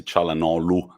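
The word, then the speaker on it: Çalhanoğlu: you multiple times see chala no lu we don't pronounce the g i stand corrected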